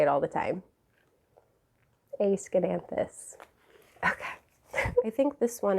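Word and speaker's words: Aeschynanthus: it made me happy variegated lipstick plant a scananthus i learned how to say it recently and now i like to say it all the time a schenanthus okay i think this one is from i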